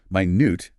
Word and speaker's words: minute: Minute and you stress the second syllable here.